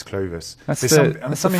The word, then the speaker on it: Clovis: But in French it's Clovis, and in English it's Clovis.